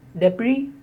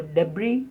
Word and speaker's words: debris: The next word is debris or debris. The last S in the spelling is silent. So debris or debris.